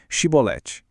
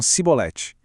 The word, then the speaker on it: chibolete: pediam para eles dizerem chibolete. Só que os efraimitas não conseguiam pronunciar o xi, eles falavam cibolete.